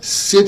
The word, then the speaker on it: sit: But be careful, because if you pronounce sit with the SH, well, the sound is, can I shit here?